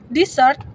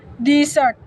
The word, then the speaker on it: desert: example in the word desert noun meaning a dry region The First syllableel stress desert in the word desert verb meaning to abandon the stress shif to the second syllable deser by emphasizing different syllab